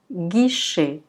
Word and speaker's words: guichet: Dès que vous voyez G suivi de la lettre U, il faut la prononcer G. Donc, elle est toujours prononcée G. Donc, ça s'appelle guichet. Guichet.